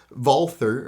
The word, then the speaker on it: Walther: this gun the vulture although i say walter you know we won the war we get to decide how a w is pronounced and it sure as hell ain't pronounced like a v if you wanted it to be pronounced walther or valtter you should have spelled it that way so the walther ppq